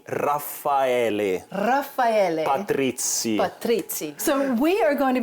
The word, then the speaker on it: Raffaele Patrizi: Raffaele Patrizi.